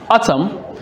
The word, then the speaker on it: autumn: In exam, you could be given a word like autumn, and this particular here, the M and the N are underlined. Now you need to note that the N is silent.